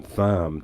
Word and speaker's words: Thom: Tom Tillis, uh, Thom, he goes by th hom tham Tillis, which runs rhymes with dam as in dumb.